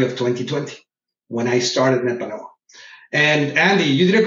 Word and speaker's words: Nepanoa: 2020 when I started Nepanoa. And Andy, you did a great job pronouncing it. Nepanoa is a word in Nahuatl. Nahuatl was the language of the Aztecs.